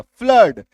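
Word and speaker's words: flood: फ्लड फ्लड में क्या हो गया? फ्ल आधा फ संयुक्त कर दिया। प्लस ल प्लस अ प्लस ड है ना। तो ये अ भाई साहब अगेन से हमारा यहां पे छुपा हुआ रहेगा।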